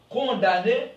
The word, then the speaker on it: condamné: on dit condamné OK dans ce mot condamné ok elle ne se prononce pas on ne dit pas